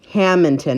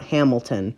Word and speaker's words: Hammonton: get down to hamilton it's haminton not hamilton oh it is hamilton